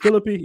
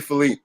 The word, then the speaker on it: Philippe: Is it Philippe? Am I pronouncing that right? It's actually Philippe, but go ahead.